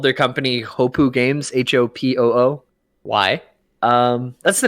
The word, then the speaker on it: Hopoo: like one other game ho poo it's it sounds like it's spelled yeah that's what i